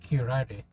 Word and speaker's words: curare: Well, it is a true word, and it is pronounced curare.